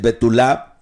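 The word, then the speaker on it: בתולה: Es betulá con acento en la última A.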